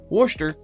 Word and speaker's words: Worcester: in washer sister town in wer that's how they pronounce it looks like Worchester to me they had a city